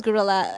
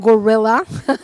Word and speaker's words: Guerrilla: us about what is Gorilla Healthcare what what does this stand for that's a wonderful question because many people don't pronounce it properly it's it's not gorilla Health it's gorilla as in guerrilla warfare because it's it's like